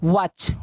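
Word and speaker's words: watch: दल होता है नेक्स्ट आपका देखिए क्या है वॉच वॉच संख्या पढ़ते हैं वाट करते हैं वॉच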